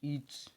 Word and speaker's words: itch: आगे देखो, ईच यानी होता है खुजली करना। ITCH ईच यानी होता है खुजली करना। यहाँ पर टी साइलेंट है, ईच यानी खुजली करना होता है।